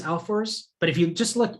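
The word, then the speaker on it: Ahlfors: uh on h a-h-l-f-o-r-s i'm pretty sure it's alforce but if you just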